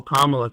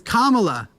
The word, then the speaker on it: Kamala: get to the point of like this whole commala thing I've noticed that where it's like it's like it's K say her name right name it's Kamala just say her name right qu being a